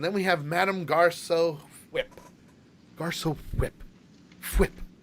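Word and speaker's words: Fwip: we have madame garcia whip garcia whip whip i gotta say it right like cool whip but flip uh and and of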